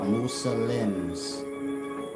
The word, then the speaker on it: Muslim: So here y'all are, Muslims. That's how you pronounce it, Muslim.